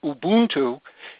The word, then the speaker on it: Ubuntu: Linux is an operating system that you can download from the internet for free, and Ubuntu, or as it's properly pronounced, Ubuntu, is a free download, more coming in just a few moments.